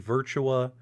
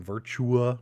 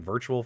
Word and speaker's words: Virtua: a hard time because i kept pronouncing virtua wrong i was saying virtual fighter you know what i